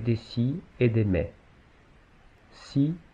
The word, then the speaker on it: six: Il se prononce si devant un nom commençant par une consonne.